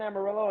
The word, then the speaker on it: Amarillo: Jr you're from you're from Texas you're from Amarillo Texas is that how you say it yeah I grew up in Amarillo and then I lived in Lubbock for a